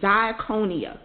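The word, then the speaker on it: διακονία: its meaning is important ministry in greek is the word d-i-a-k-o-n-i-a diaconia and for a believer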